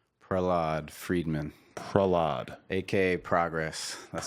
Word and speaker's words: Prahlad: name I don't want to say it wrong Prell odd Friedman Prahlada aka progress that's how I grow